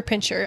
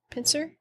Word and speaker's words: pincer: Do you say it pincer or pincher? I know it's spelled pincer. Pincer? I thought pincer.